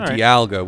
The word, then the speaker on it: Dialga: guide says D alga Dialga Dialga okay sorry Dialga with the stress in the middle yeah because English but